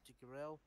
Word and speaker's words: Degrelle: I do remember there was something that when Leon Degrelle, how do you pronounce his surname? Degrelle.